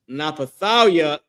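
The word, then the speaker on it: Naphtali: Napthali. Their name is Napathalia in Hebrew. This is the Hebrew pronunciation of their name.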